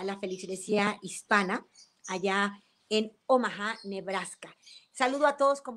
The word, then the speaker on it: Omaha: todos mis amigos en omaha nebraska yo digo omaha y bueno la verdad es que parece que la pronunciación correcta omaha sin embargo todos allá decían o más entonces es bueno hasta